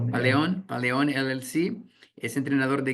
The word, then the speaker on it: Paleón: Hoy a través de, ¿cómo lo pronuncias? Paleon LLC es entrenador Paleón.